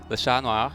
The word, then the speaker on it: Le Chat Noir: How do you want to pronounce that? Le Chat Noir? Sure, whatever. No. Le Chat Noir. There you go.